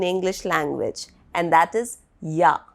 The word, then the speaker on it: ja: language, and that is ja. But here the spelling is J-A, Yot A, because J is pronounced as Yot.